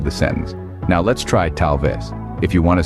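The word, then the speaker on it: tal vez: let's move on to talves this one is pronounced as talves repeat after me talves excellent now it's not enough just to know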